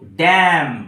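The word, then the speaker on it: damn: English দেবো আমি তো ড্যাম ডি এম এন এই এন টা হিয়ার সাইলেন্ট এখানে কোন উচ্চারণ হবে না তো ড্যাম ইট ধুতিকে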